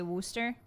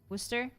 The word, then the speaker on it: Worcester: If I think someone is even vaguely involved with the British, I will say Worster. Worcester. But you like shorten the O.